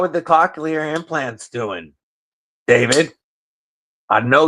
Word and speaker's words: cochlear: That is cochlear. Cochlear is how it's pronounced.